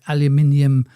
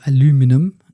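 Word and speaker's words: aluminium: doctor stare uh discovered radioactive aluminum uh or aluminum depending on if you're American or not isotopes.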